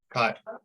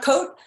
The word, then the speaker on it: Kot: And, how do you say your last name? Cott. Cott, not Coat. Cott. Cott.